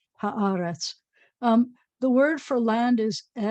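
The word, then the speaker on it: הארץ: This word that means the land is ha haaretz, haaretz, and the accent's always going to be on the ah for this word, haaretz.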